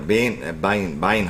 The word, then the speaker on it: Bienhoff: Yeah, it was a Bienhoff.